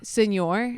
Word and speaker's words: Signore: how do you say your last name seor Senor it's like Mis an Italian it makes no